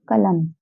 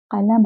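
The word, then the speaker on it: क़लम: आता, इस वजह से हम लिखा तो बिंदी के साथ है पर पढ़ते हैं बिना बिंदी वाला का। हम कह देते हैं कलम, जबकि ये क्या है? कलम है।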